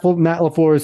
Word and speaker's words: LaFleur: It's Mike LaFleur.